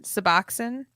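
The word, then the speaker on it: Suboxone: much um anyway sorry I didn't mean to pronounce that wrong can you say it again suboxin yeah there you go okay suboxin it would give her a high like the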